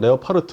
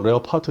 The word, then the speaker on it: 레오파르트: 레오파트 2에 대해서 잠깐 좀 설명해 주시면 아 독일에 레어파르트 발음상 레오파르트 뭐 레어파르트 이렇게 하는데 1형이 있고 2형이 있어요.